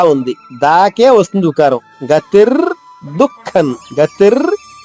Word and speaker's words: దుఃఖం: దుఃఖం అనకూడదు, పెదవులు కలవకూడదు మళ్ళా, ఎందుకంటే అనుస్వరం తర్వాత చరణంలో దే ఉంది, అంటే అనుస్వరం తర్వాత దా వచ్చింది కాబట్టి తాత దాద్ధ ఈ నాలుగు అక్షరాలు ఏదొచ్చినా గానీ అనుస్వర ఉచ్చారణ నా అవుతుంది, అంటే ఐదవ అక్షరం నా అవుతుంది. అందువల్లే దే ఉంది కాబట్టి ఇక్కడ అనుస్వరం నాగా పలకాలి.